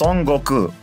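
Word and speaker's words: 孫悟空: beginning of time in Japanese his name is pronounced sangoku this is also where the character Goku in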